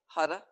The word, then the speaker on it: Har: chant is Hutta har pronounced Hutta and the tongue flicks the roof of the mouth as we begin chanting